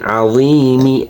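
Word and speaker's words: عظيم: এখানে কিন্তু জের আছে শেষে, যদি আমরা বানাম করে পড়ি তাহলে জেরের উচ্চারণ আযীমি হবে। ওকফ করলে আযীম, শেষে 3 আলিফ টান হবে এবং জেরের উচ্চারণ কি হবে না।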